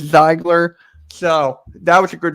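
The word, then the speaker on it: Ziegler: can't pronounce their zeigler i thought it was a g for a second but it's zeigler so that was a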